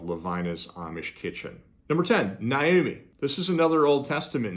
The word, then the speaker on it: Naomi: It's more like Naoma rather than Naomi. Naoma. So it kind of has more like an A sound on the end rather than like an I, like I would naturally pronounce it.